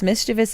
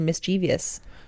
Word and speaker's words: mischievous: and then there's mischievous mischievous is actually the correct way to say it but I hear so many people say mischievous here's a funny story